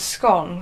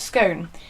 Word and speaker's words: scone: By far the most common pronunciation in the UK is Scone, which is somewhat disappointing, with 66% of the respondents pronouncing it that way compared to only 32 who pronounce it Scone.